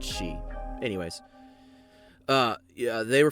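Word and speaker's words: Sidhe: it's like pronoun or it reads like said he or something like that but it's pronounced she anyways uh yeah they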